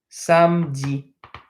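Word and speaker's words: samedi: bit of a small lesson of a small pronunciation lesson on on these words with a vowel n okay saturday is Sam Z some Z so some has anything like Sam kinda like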